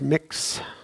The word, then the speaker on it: Mx: so they can circle MX instead of he or he, she or MX is pronounced mix.